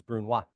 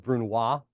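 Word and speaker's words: brunoise: I don't know if you heard me pronounce that s on the end, but yes, it's Bruna. But anybody who's taken French, but you know the e on the end of the word means you pronounce the consonant.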